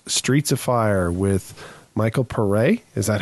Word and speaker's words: Paré: And this week we're reviewing 1984's Streets of Fire with Michael Paré. Is that how we decided if we're going to pronounce it? Yeah, that's Paré.